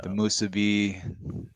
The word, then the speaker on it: musubi: musubi.